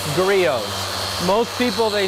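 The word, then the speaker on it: Griot's: out here, that's pronounced Grios. Grios. Grios. Most people they spell it out phonetically, Grizz, cuz that's how it looks like it would be said, but it's Grios. The T is silent.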